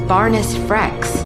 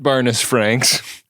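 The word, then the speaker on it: Barniss Frex: update on Barnes Franks better known as Barnes frecks not Barnes Franks because we said his name wrong I am Lieutenant Junior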